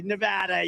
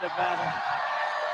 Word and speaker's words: Nevada: You know the state, we love it and you always have to say it correctly. Nevada. You ain't got to go with Nevada.